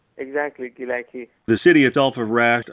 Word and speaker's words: Gilaki: spoken there, but another language is spoken called Galeki, is that right? Exactly, Gilaki.